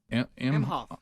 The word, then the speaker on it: Emhoff: Doug Emhoff.